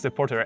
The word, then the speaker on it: Depoortere: Today I have a pleasure to welcome my guest, who is Eefje, Sjokz Depoortere.